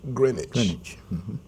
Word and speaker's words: Greenwich: was named after the green witch but it's pronounced Greenwich um we mentioned that there's father demo Square